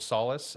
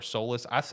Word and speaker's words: Fort Solis: also briefly chat about Fort Solace or Solas I've heard it pronounced both ways that came out about